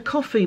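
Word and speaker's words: Ko-fi: But if anyone wants to help out, there is a coffee page. You see, it's about buying someone a coffee, but it's spelled K-O-F-I. It should have been K-O-F-F.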